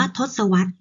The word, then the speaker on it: ทศวรรษ: เวลา อา ปี คือ คำ ว่า ทศวรรษ ออก เสียง ว่า ทศวรรษ คำ ที่ 2 มี